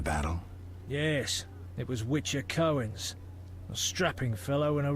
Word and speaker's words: Cöen: Cöen, or Cöen, if we are to go with proper pronunciation of how C-O-umlaut E-N is pronounced, was in the books,